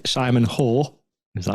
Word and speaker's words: Hoare: MP Simon, and I hope I say this right, Simon Hoare.